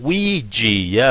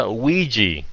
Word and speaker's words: Ouija: Ouija, yes, cái chữ đó nhìn vậy mà không phát âm vậy.